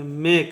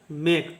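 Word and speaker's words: make: last ई आता है जब किसी शब्द में अगर लास्ट में ई आएगा तो हम लोग इ का उच्चारण नहीं करते हैं ई का उच्चारण हम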